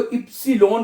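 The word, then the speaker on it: Ypsilon: आवा ये ये पढ़ा जाता है और इसको इ्सिलोन कहते हैं जर्मन जुबान में वाई को।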